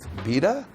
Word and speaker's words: Vita: do you guys remember the V rhymes with wife VA um no I mean